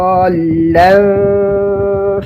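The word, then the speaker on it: ضالا: Antum di ayat ke-7, wa wajadaka dhallan fahada. Dhallan, ingat bahwa di atas lam itu ada tasydid, sehingga antum dan kita semua harus menekan huruf lam.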